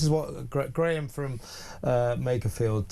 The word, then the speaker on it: Makerfield: Now listen earlier uh you know warning Southerner at large but I was mispronouncing Makerfield calling it Mafield.